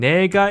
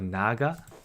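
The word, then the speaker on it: 내가: it it beco uh the pronunciation changes a little bit to nega it still means not it still means i but then i guess it's just easier to say nega instead of naga it's okay right so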